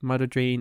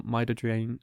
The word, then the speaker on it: midodrine: For autonomic disorders, firstly, orthostatic hypertension can be treated with midodrine or midodrine, depending on how you pronounce it.